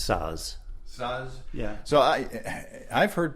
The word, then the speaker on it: Saaz: I'm not I don't know Czech, so that's how Germans would pronounce it.